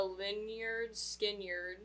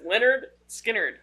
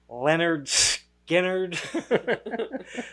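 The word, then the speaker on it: Lynyrd Skynyrd: Andy and pepper are on their way to lard skard leard lard skard Jesus Christ lyard skard lyard skard what I know it's spelled weird but it's Leonard skinnard that's it Freebird man Leonard skard even one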